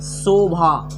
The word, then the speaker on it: शोभा: ये है शोभा ना कि शोभा, शोभा ना कि शोभा। चूंकि भाई ये तालव्य श है भाई, जब हम तालव्य श का उच्चारण करते हैं तो हमारा जुबान जो है वो तालु में टच करना चाहिए।